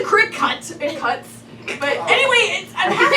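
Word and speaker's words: Cricut: It's spelled C-R-I-C-U-T, come on. Oh, what am I supposed to know what that It's is? the crick cut.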